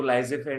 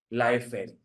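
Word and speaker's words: laissez-faire: Capitalism लाफेरी French minimum उसको लाइजे फेयर नहीं बोलेंगे हम लोग, लाइफ फेयर, उसका प्रोनाउंसिएशन ऐसा है, फ्रेंच वर्ड है।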